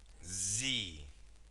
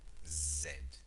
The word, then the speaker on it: Z: x y and okay Z this is an American pronunciation an American pronunciation okay in English we we usually say zed zed okay so Zed or Z and these are vocales